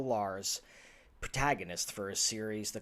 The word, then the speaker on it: Lahr: church it introduces you to author ron l lars protagonist for a series the cathartic chronicles he